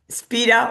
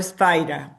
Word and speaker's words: Spira: I don't know if to say Spira or Spider because he he had already explained this, that his original name, osea the the the pronunciation is Spira, but that many many all the English speaking people calls him Spider.